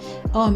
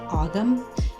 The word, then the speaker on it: Ogham: have inscriptions on them from the OM alphabet Oh I'm misspelled o-g-h-a-m and some people pronounce it agum but I'm pronouncing it oh I'm and that's